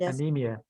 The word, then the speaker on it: anemia: one first anemia good anemia and then the the the emphasis on the on the third syllable so yeah there's no